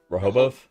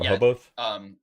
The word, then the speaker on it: Rehoboth: Am I pronouncing that right? Rehoboth? Yeah. Rehoboth?